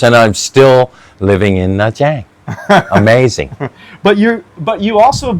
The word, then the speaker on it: Nha Trang: Nha Trang.